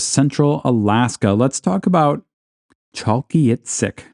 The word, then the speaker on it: Chalkyitsik: Alaska let's talk about chalky it sick now to pronounce this I had to like write it out phonetically chalky It Sick chalky ITC this is apparently a gwitchin